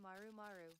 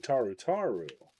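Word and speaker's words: Tarutaru: Said I did block WHT SMN Maru Maru. Oh, Maru Maru. You mean Taru Taru. They'll get very grumpy wumpy if you say their name wrong.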